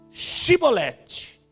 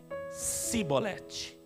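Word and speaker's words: Chibolete: E dizendo ele: não, então lhes diziam: dize, pois, Shibolete. Porém, eles diziam Sibolete, porque não podiam pronunciar assim essa palavra bem.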